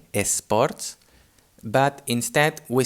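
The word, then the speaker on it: bé: we have for example the word b b means well the the adverb like well done no and here well uh b is spelt b e and the e has a closed accent on it so the accent going to the right and that's why the e doesn't sound e like open but it sounds closed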